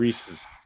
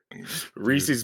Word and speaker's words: Reese's: It's Reese's. It's like the name Reese, and it's like belonging to. It's Reese's. Yes, Reese Today's apostrophe S. Today's podcast is brought to you by Reese's Pieces. Reese's Pieces in the Denver airport.